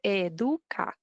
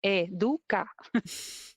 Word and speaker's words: Educa: So the way to pronounce it is Educa. I hear a Educa. lot of Educa. No, Educa. It's hard for our non-Spanish tongues to get wrapped around that. Educa. Well, SJ says that Educa rhymes with my hometown Paducah.